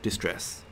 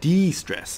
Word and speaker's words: de-stress: use to distress themselves not distress wrong pronunciation that de-stress is what I'm trying to say they will lose their